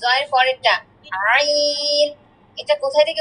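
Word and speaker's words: عين: একটাতে নক্তা আছে এইতো ক একসাথে বলতো দুইটা উচ্চারণ আবার বল জ আচ্ছা তারপরে আইন জ এর পরেরটা আইন এটা কোথায় থেকে উচ্চারণ হচ্ছে জানো গলার মাঝখান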